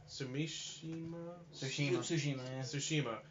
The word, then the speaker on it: Tsushima: Yoshiko, I can never pronounce her last name. Tsushima. Okay. Tsushima.